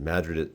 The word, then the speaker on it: Madrid: Madrid is pronounced that way is a great little mining town turned artist colony um like north of Albuquerque.